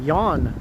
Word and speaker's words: Jan: Your name is pronounced Yawn.